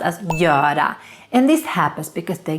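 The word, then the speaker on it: göra: when you're in Sweden super important to not pronounce this verb as bura No it should be pronounced as Yoda and this happens because the gear the G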